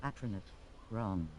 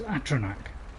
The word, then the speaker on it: Atronach: just proved that I have been pronouncing patronage Ron so yeah because I I also astronaut for some reason I don't seem to say the names wrong but it's Atronach I've been playing that wrong so I know I